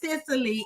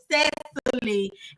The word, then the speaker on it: Cecily: I had to get it straight y'all before we started the interview that her name is not pronounced Sicily. It's Sesy and y'all make sure I get that right get that right at all times.